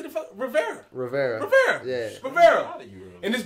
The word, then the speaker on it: Rivera: Patrick Rivera. That's how you say it, right? Riviera. It's Rivera. Rivera.